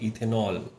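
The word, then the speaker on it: ethanol: group का ऑल है तो हम यहां से ई हटा लेते हैं क्योंकि उसकी साउंड नहीं आती तो इसको क्या प्रोनाउंस करेंगे इथेनॉल तो ये इस तरीके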